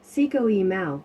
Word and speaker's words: Cinco de Mayo: for according to wikipedia cinco de mayo pronounced seco e mao in mexico spanish for 5th of may